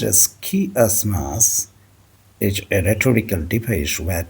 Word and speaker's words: chiasmus: Pronounced as chiasmus, is a rhetorical device where two or more clauses are balanced against each other by a reversal of their structures.